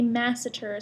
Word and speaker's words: masseter: other muscle called the masseter so it's ma s s ET ER but I always pronounce it like math eater so I remember what it does the masseter kind comes